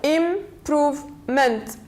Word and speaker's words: improvement: the penultimate syllable then Improvement in prove M so we have more than two syllables words so we stress on the third from the end one two three the third syllable improvement improvement then we have the